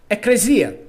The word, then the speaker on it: ecclesia: O k grego tornou-se o c latino. Ecresia. Ecclesia.